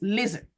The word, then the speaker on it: listen: correctly words like listen the T in that word should be silent so it's listen listen American will say